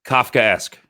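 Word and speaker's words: Kafkaesque: How do you pronounce episode 9? Kafka-esque.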